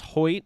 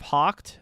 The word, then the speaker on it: Hoyt: think about it um i think it's pronounced hoyt instead of hawked oh good to know